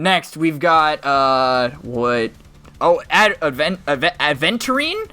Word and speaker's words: Aventurine: Oh, Aventurine, I think is how you say his name. Aventurine.